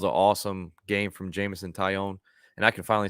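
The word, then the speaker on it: Taillon: That was an awesome game from Jameson Tyone, and I can finally say his name correctly. I always add an L in there, but I keep forgetting they're silent.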